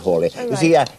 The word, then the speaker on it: Halley: In the Halley's Comet Society, always known as Halley. Edmund Halley was the second astronomer royal, and you probably pronounce his name Halley, not Halley, and certainly not Halley.